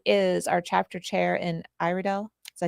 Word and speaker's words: Iredell: She is our chapter chair in Iridel. Did I say it right? You say itel. Iredel County, North Carolina.